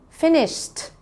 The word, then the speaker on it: finished: Finished. Should be able to hear the T at the end.